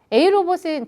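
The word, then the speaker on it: AeiROBOT: 회사 이름이 a 로봇이잖아 a 로봇은 저희 회사 철자를 잘 보면은 aei 로봇이에요 그럼이는 발음 끼웁니다 그러면 이걸 발음하면 a 로봇이 돼요 어 로봇이에요 그럼 로봇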